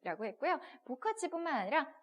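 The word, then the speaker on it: 不客气: 不客气 뒤에 사성이 왔으니까 부가 뿌가 아니라 그죠? 부 이렇게 읽었죠? 不客气谢谢 라고 얘기했을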